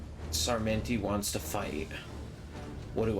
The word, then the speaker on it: Sarmenti: They are not happy with Sarmenti. He's French, but you have to pronounce his name in an Italian accent.